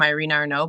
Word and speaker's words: Irina Arnaut: funny it's uh it's my name Irene Arno but it's spelled is it phonetically e ye r n a DOT a r e n o t anyway uh I think